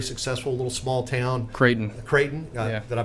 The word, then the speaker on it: Creighton: I think it was Crichton University. They were talking about the coach there who was very successful, a little small town. Creighton.